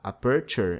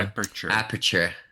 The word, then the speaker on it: Aperture: Como é que é a pronúncia correta? É Aperture? É assim que fala? Não. Aperture. Aperture, certo.